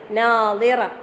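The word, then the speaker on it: ناضرة: മറ്റേ നദറ അല്ലേ, ദ്വാദ് അത് രണ്ടിൻ്റെയും ഉച്ചാരണം സ്വാദിന്റെ ദ്വാദ് പറയുമ്പോൾ നമ്മള് നാവിന്റെ സൈഡ് ഭാഗം അണൽപ്പല്ലിന് ടച്ച് ചെയ്യുന്ന രീതിയിലാണ് വരേണ്ടത്.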